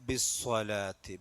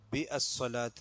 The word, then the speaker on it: بالصلاة: അഹ്ലക ബിസ്സലാത്തി. ബിസ്സലാത്ത് സ്വലാത്ത് അധികം നീട്ടേണ്ടല്ല. അവിടെ അംസത്തുൽ വസ്ലാണ്. ബി അസ്സലാത്തി എന്നല്ല, ബിസ്സലാത്തി.